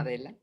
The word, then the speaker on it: Adela: And Adela is how you pronounce it? Yeah, I'll answer to anything, but yeah. Adela.